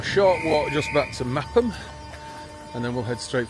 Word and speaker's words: Meopham: Right, this is Meopham, spelt Meopham but pronounced Meopham.